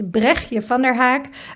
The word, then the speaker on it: Bregtje van der Haak: Um so my name is um difficult name to pronounce but it's Brechje van der Haak.